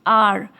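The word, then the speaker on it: hour: But since it's a vowel sound like R, okay, we are pronouncing it R.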